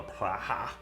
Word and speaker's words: Praha: You think they'll go to Praha? Maybe. That's how you pronounce it.